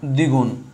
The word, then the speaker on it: দ্বিগুণ: তাহলে দেখো শুরুতে আসি, উচ্চারণ হবে না, বফলা বাদ, তাহলে শুধু দ, এ হচ্ছে দ্বিগুণ, শেষ।